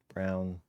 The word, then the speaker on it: Colin Braun: Blomquist and Colin Braun Brown I think I think they pronounce it brown it looks like brown